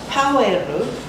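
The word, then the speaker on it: パウエル: Paueru is the Japanese pronunciation of Powell, and there was Paueru Gai.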